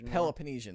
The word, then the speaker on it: Peloponnesian: It's happening during the Peloponnesian, that's how it's pronounced.